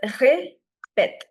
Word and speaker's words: répète: The pronunciation is répète. So the first E is a flat sound, ré, but the second one is a sharp sound because the first one is ague, the second one is grave.